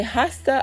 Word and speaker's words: hosta: in the comments below do you say hasta a hosta I know everyone pronounced plants differently I normally say Hosta and then we have